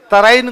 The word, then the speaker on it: तराइन: तराइन को अंग्रेजी वाले कहते हैं टेरेन, टेरेन, और टेरेन ही होता है वो, इंग्लिश में इनकी स्पेलिंग भी ऐसी है, उसको बोलते भी टेरेन है।